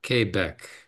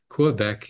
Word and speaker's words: Quebec: Dr Abrahim vield here in moral kbec and that's the way you pronounce it Quebec is some sort of perversion somebody in England land Anglo land there in Canada thought that we should be called something other than what we are anyway we are KCA